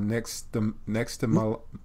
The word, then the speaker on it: nixtamalization: in your book called, and I can't even pronounce it, it's called nixtamalization.